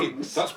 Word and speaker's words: scone: It's definitely a Scone rhymes with Ron.